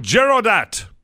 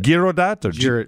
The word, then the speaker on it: Girodat: And his name is Stephen Girodat. How's it going, Mike? Is that how you say that? That's how you say it. Girodat?